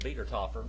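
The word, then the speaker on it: Wiedertäufer: But it's pronounced Wiedertoffer.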